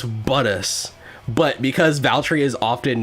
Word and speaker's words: Bottas: Look, I mispronounced, like, one. Oh, wait. Wow, he's mad. Poor Seb. I know it's Buttus, but because Valtteri is often not doing well